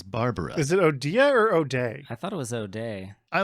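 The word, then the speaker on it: O'Dea: Is it Odia or O'Day? I thought it was O'Day. I like Odia better. O'Day. It sounds fancier. I don't think that's correct, though. No, it's O'Day, but I like Odia better.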